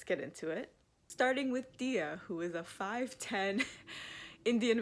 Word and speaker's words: Diya: Diya mentions that her name is often mispronounced as Daya instead of Diya, but it is pronounced Diya. The game even tells you that. It tells you that it's actually pronounced Diya, not Daya.